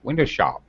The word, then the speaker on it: window shop: If I say the word by itself, window shop, it has first syllable stress, but as I use it in this sentence, I'm probably going to change the stress to the last syllable.